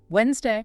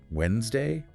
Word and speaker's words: Wednesday: Wednesday. It really does. And that's the common error. But nope, that D is completely silent in modern English.